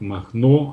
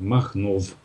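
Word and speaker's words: Machnow: Есть такое место Махно они немцы не читают последнюю в и произносят как Махно а написано на знаках на вот этих дорожных знаках махнов и там полно таких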